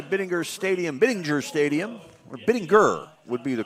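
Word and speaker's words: Bittinger: Welcome back everybody to Biddinger Stadium, Biddinger Stadium or Biddinger would be the correct pronunciation.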